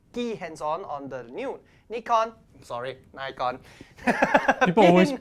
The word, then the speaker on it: Nikon: sorry Nikon people always people always mispronounce it people always call it uh Nikon or Nikon yeah but it's Japanese for goodness sake people it's Nikon yeah what whatever floats your boat yeah yeah anyway we're Asians so it's Nikon so anyway this is